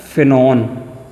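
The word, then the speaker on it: phenone: आप प्रोनाउंस जब करोगे तो आपके मुंह से ऑन निकलना चाहिए, ONE नहीं निकलना चाहिए। तो आप क्या बोलोगे इसे? आप बोलोगे बेटा फिनॉन, ठीक है।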